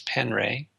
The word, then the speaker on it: Penre: His last name is spelled Penre, Wes Penray, or you can go